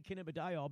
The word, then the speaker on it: cannabidiol: When you can't say cannabidiol because you don't know that there's a diol in there, it just tells you how often you've ever said the word.